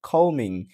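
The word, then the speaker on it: combing: এরপরে দেখেন এমবি টা যদি মাঝেও থাকে তাহলেও বি টা উচ্চারিত হবে না। যেমন বি ও এম বিই আর বোমার বোমার। ওকে সি এল আই এমবি R climber. Climber এখানে কিন্তু বিটা উচ্চারিত হয়নি।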